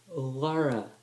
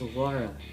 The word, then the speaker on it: Lara: more thing I momentary affliction later game it's pronounced Lara the house fans it's laura not Clara or the war on its water